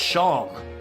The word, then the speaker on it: Seam: anything better to do name Shawn pronounce Shawn and this is my